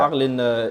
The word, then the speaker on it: Arles: Is that how it's pronounced? Yeah. Arles near Marseille.